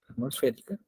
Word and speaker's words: atmosférica: a la presión atmosférica lleva el acento en la E, atmosférica, más la presión del agua.